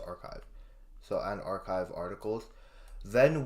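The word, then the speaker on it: arXiv: Oh, archive. Okay, so it's just archive.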